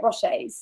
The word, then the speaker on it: Rocher: Rochers.